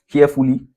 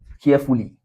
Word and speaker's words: carefully: For example carefully All right? carefully care fully This is where we have the stress, eh? In care. Okay? So, if you write this, you write care care as one syllable, then we write full as another one, then we write lee as the final syllable. We have the stress syllable here, the first.